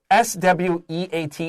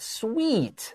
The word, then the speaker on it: sweat: the pronunciation here so s-w-e-a-t is not sweet this is sweat e a is short e here not sweeter tea and